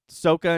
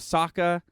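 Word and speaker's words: Sokka: ong instead of aang they say uh uh soca instead of saka uh there's a couple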